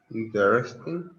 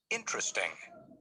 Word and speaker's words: interesting: Notice that the unstressed vowels are not pronounced. Every. Different. Interesting.